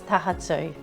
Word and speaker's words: taha tū: So if we think of it in its syllables, taha, and then the tū has a macron over the u, so that makes it longer. So we're saying taha tū.